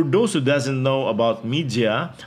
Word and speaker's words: Mijia: who doesn't know about media I pronounce it the Spanish way before as Mejia it is xiaomi's brand